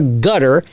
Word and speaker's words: Qatar: Now it's Qatar or gutter. It's funny how it's pronounced that.